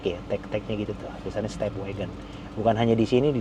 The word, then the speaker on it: Stepwgn: Step wagon disingkat WGN-nya. Harusnya kan W A G O N. Ini emang stepwagon wagon gitu bacanya.